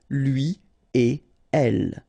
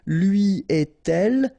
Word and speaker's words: lui et elle: So no links after et. Okay, so if you want to read it correctly here, it will go like lui et elle. All right, so don't think about putting something between the two. Don't think about producing something like lui et elle. No, no, no, nothing here. Lui et elle.